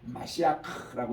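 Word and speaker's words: משיח: 메시아를 마시아크라고 이렇게 발음합니다.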